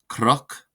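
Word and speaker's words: cnoc: In Ulster, when the letter N follows a consonant, it will often be pronounced as the letter R. Some examples for this include croch, croch, croch, croch, meaning hill, croch. This is pronounced as if it were spelled CROC.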